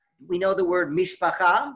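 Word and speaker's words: מִשְׁפָּחָה: How do you say it in Yiddish? You don't say Mishpacha, what do you say? Mishpucha, right? There's a difference. Mishpucha, right? Mishpacha, Mishpucha, right? And so it's still Hebrew, but there's a different accent on the syllable.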